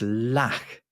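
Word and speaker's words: lakh: originally it's from Sanskrit and the word is lack have you ever heard this word how do you spell it l a k h and if you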